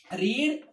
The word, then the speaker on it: read: नाउ रीड is that. रीड, रेड, रेड. या pronunciation is going to change here.